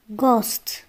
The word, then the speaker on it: ghost: حرف الإتش إذا جاء قبله حرف الجي وبعده حرف متحرك، وإحنا عارفين الحروف المتحركة هي A E I O U، فإن الإتش لا ينطق. مثل Ghost Ghost.